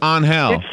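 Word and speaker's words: Ángel: on hell on hal his name looks like angel is pronounced on hell you're kidding oh my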